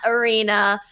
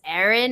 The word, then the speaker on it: Erin: And no, my name is not Arena. I know people see that A. It is Erin.